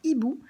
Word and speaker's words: hibou: En revanche, j'ai volontairement enlevé la lettre H parce qu'on voit le dessin d'un hibou, mais le H ne se prononce pas.